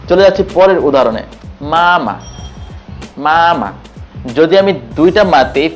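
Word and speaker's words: 妈妈: সেটি ফলো করার জন্য প্রথম মাটিকে আমাকে ফ্ল্যাট টোনে উচ্চারণ করতে হবে। তা হচ্ছে মা এবং পরের টোনটি হচ্ছে নিউট্রাল বা লাইট টোন। এতে কোন টন নেই। খালি আমি ছেড়ে দিব। তা হচ্ছে মামা।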